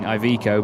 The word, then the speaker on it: Iveco: which will be the evico sway I've been saying iveco because uh it's uh it's pronounced slightly differently in English from what I understood but either way this